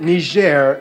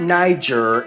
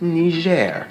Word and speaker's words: Niger: colonies to the desert Holdings like Mali and Niger yes people that's how you pronounce it Niger not Niger not Niger and definitely not that offensive word